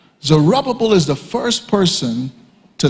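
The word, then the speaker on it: Zerubbabel: One is under this guy and I will spell it for those who don't mind. Zerubbable. Zerubbable is the first person to lead the people back.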